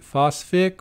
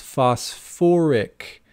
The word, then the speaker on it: phosphoric: So is it phosphic? Well, we just said for the phosphorus acids, we add the little extra syllable there, so it becomes phosphoric acid.